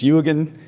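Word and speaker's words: Jürgen: Um it's uh Yugan. So it's spelled Jurgen but it's Yugan and uh Schmid Huber.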